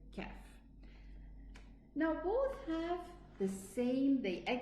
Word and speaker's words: ك: Then comes the kaf below. So we have the qaf and the kaf, they are both pronounced from the furthermost tongue.